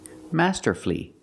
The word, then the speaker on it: masterfully: it's not four syllables we pronounce it with three syllables Master flee flee the last syllable is flee not fully but flee Master flee Master flee put the stress on the first and third syllable Master flee masterfully if